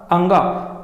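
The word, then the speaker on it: ङ: क ख ग घ अंगा। अंगा बोला जाता है या अणा बोला जाता है, दोनों उच्चारण सही हैं, अंगा या अणा।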